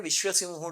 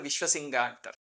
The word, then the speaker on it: Viswa Singha: We call him Viswa Simha, though they pronounce it as Viswa Singha.